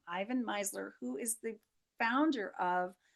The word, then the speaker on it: Ivan Misner: It comes from Ivan Misner, I believe is how you pronounce his name, Ivan Misner, who is the founder of BNI, Business Network International, the biggest networking company in the world.